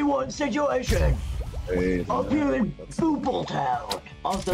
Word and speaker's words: Bopl: situation up here in BO Town also the game is pronounced as Bo not b as I learned from uh